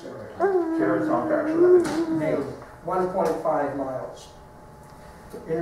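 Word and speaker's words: Caratunk: Cataract, is that how you pronounce it? Caraton, actually.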